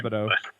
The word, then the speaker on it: Disabato: Disabato.